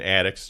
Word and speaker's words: Attucks: Crispus, that's Crispus, and Attucks, just like what's above our head where the insulation, except it's spelled Attucks.